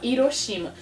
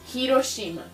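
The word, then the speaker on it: 広島: Aliás, acho que todo mundo do Brasil fala Hiroshima. Mas, na verdade, a bomba caiu em Hiroshima. Hiroshima. É com essa letra que eles escrevem. Então, eles pronunciam o H aqui no Japão.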